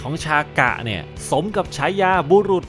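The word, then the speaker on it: シャカ: เขียน อย่าง นี้ ครับ ออก เสียง เหมือน กับ คำ ว่า ชากะ คำ นี้ ที่ แปล ว่า พระ พุทธองค์ ซึ่ง ก็ มี ความ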